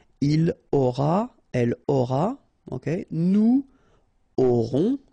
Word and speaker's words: aurons: Nous aurons, final S not pronounced, O and N together, nasal, on, A-U-O, auront, alright.